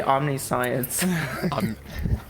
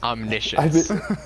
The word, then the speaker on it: omniscience: do you pronounce it I say omn science it's omnicient omniscience o that rolls up the